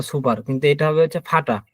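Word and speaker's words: Vater: হচ্ছে আমরা বলি হচ্ছে ফাটার দেখবেন অনেকেই বলে হচ্ছে ফাটার বা সুপার কিন্তু এটা হবে হচ্ছে ফাটা এই আর উচ্চারণ হবে না এর উচ্চারণ হবে না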